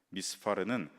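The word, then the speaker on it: מִסְפָּר: 수효라는 의미를 가지고 있습니다이 미스 발의 정확한 발음은 히브리어로 이제 미스파르입니다 미스파르는 사파르라는 히브리어 단어에서 유래한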